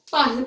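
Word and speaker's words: parlent: ENT, it's not pronounced. ENT is always silent. Okay, we say it as parle only.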